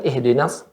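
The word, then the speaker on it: اهدنا: Ya, ulangin ihdinas. Ihdinas Maaf, bukan ih. Ha besar. Ihdinas siratal mustaqim.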